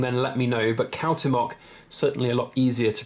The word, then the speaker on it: Cuauhtémoc: So this, on this side, is the last emperor of the Aztecs, and his name is Cuauhtémoc. I have researched that, and that's apparently how you pronounce it.